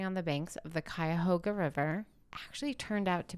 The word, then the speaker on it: Cuyahoga: I swear on my life, it's Cuyahoga.